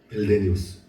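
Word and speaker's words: Meldenius: 멜데니우스 발음이 어렵네요.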